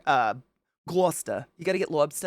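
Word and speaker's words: Gloucester: Irish family there is what I'm saying in gler uh gler you got to get Lobster and gler which by the way is spelled Rochester words don't make sense um but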